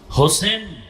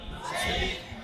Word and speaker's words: হোসাইন: হোসাইন রাদিয়াল্লাহু তা'আলা আনহু হোসেন না হোসাইন হোসাইন আমাদের দুঃখ যে অনেক মানুষ নামটাও সুন্দর করে উচ্চারণ করেন।